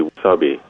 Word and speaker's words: wasabi: Well, Japanese pronunciation would be wasabi.